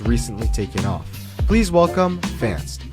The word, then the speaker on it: Fantst: Also, is it pronounced Fantst, Faintest, or Fantist? Okay, so I think it's pronounced Fantst because I just went on Google Translate and that's what it said.